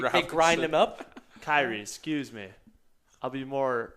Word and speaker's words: Kyrie: Keurig They grind Robinson. him up? Kyrie, excuse me.